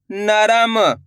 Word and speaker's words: नरम: अधिकतर लोगों से क्या गलती होती है? लास्ट वाले अक्षर में गलती होती है। होता क्या है? पूरा उच्चारण कर देते हैं तो शब्द गलत हो जाता है। तो आपको यह गलती नहीं करनी। लास्ट वाले अक्षर का उच्चारण आधा करना है।